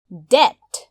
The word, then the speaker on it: debt: D-E-B-T, debt. ऋण. यस शब्दमा रहेको B लाई हामी उच्चारण गर्दैनौं, त्यसैले हामी यसलाई भन्छौं debt.